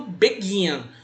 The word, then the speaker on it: begin: begin, o verbo começar, ele é dito begin, não é begin. A palavra tônica, a sílaba tônica, está no gin, não no B.